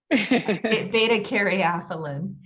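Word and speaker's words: beta-caryophyllene: Beta caryophyllene. Beta caryophyllene.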